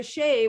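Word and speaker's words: Xi: be and then the shea which is a if you pronounce it as you would in in chinese uh is the prime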